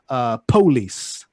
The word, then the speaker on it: police: So, guitar, police, instead of police. So police with two syllables.